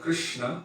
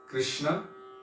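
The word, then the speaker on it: Kṛṣṇa: good i guess in they say that's the proper sanskritic pronunciation understanding from that part so instead of krishna we say krsna locals or hindi persons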